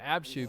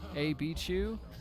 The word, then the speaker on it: AB Chew: And apparently his teammates also call him Abchu, so even though his name is actually pronounced AB Chew, everyone calls him Abchu now. AB Chew. So enunciation on the AB.